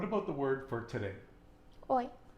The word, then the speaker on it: hoy: Hoy. Hoy. H-O-Y. And why don't we say hoy? Because the H is silent.